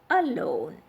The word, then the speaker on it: alone: with diasyllabic words so look at the word alone the we prefix here is a and it is a weak prefix so the stress is on the second syllable that is l-o-n-e law alone then about okay uh